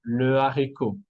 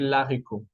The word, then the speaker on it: haricot: Devant le H aspiré, por ejemplo, le haricot. No vamos a decir l'haricot.